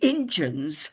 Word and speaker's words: Injuns: One of the versions, again, one of Peggy's versions, the Injuns stole, I say it like that because it's spelt like that.